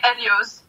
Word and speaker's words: Elyose: In French, we say Elyose. Elyose? Yeah, that's how we say it in French.